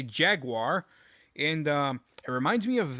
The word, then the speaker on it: Jaguar: It's not Jaguar. It's Jaguar, if you're going to pronounce it right. But I'm an American, so I say Jaguar.